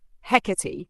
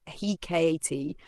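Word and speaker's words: Hecate: Hecati, pronounced Hecati or Hekat, is one of the most ancient and powerful goddesses of the Greek world.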